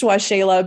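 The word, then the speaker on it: Waxela: which is always the tricky part um it's pronounced washayla but it's w-a-x-e-l-a-s-a-n-a-n-d-a dot com forward slash aoa5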